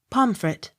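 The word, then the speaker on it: Pontefract: n t e f r a c t pomfret p u g h pew p y t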